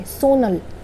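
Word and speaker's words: 손을: अब इसको हम पढ़ेंगे सोन अल नहीं, इसको हम नियन को ऊपर ले जाएंगे, सोनल। बट ये सिर्फ प्रोनाउंसिएशन में ऐसा होगा, हम सिर्फ प्रोनाउंस सोनल करेंगे, लिखेंगे हम सोन अल ही, क्योंकि हमारा वर्ड तो सोन है ना, सोनल।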